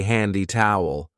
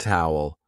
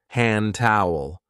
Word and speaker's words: hand towel: careful of the pronunciation we don't usually say handy towel we link it and we say hand hand towel hand towel down there we have